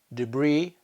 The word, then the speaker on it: debris: silent which words contain the silence is to either look in dictionary at the phonetic spelling or just to remember them because there aren't that many here are a few examples Island debris rendezvous okay that's all we